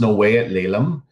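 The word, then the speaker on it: snəw̓eyəɬ leləm̓: see at the bottom it's pronounced no way at Leila and it means kind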